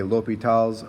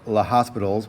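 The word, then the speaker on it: L'Hôpital: an s both are accepted i generally say l'hopital's rule but sometimes it looks like low speed tiles rule or hospitals which is not the correct pronunciation but i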